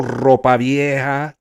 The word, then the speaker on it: Ropa: Sosa Hill Ropa. You got to roll your Rs on that one.